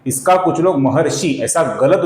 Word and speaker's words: महर्षि: है इसका कुछ लोग महर्षि ऐसा गलत उच्चारण करते हैं। इसका सही उच्चारण है महर्षि महर्षि और ये ह्रस्व है दोस्तों ये शी ह्रस्व है इसका हमें लघु उच्चारण करना होता है।